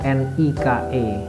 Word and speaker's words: Nike: Contohnya, kita tahu merek Nike itu tulisannya hurufnya kan N-I-K-E, tapi dibaca Nike ya, dengan logonya yang swoosh itu.